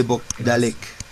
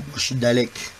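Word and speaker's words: Bochdalek: La más común se le conoce como hernia de Bogdalek. Voy a llamar lista. Prendan sus micrófonos para no. Muchos lo pronuncian como Bogdalek. Muy bien, Bogdalek.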